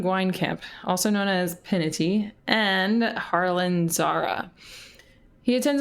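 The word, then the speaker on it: Pinety: previous episode um that it can be pronounced pinity and I like that better because I was saying pine tea as we heard of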